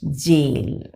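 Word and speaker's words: gaol: AO, an improper diphthong, occurs in the word goal, now frequently written as it is pronounced jail.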